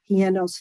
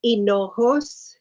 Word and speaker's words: Hinojos: Commissioner Hienos Fall. Okay, thank you, Madam Vice Chair. Let me just say for everyone, it's Hinojos. It's a very common Hinojos. name in this area. Yes. Don't pronounce the H.